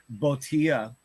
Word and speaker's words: botia: Botia. Botia. I don't even know how to say it. Botia. It's botia. It's a Latin Okay. name, but it's botia.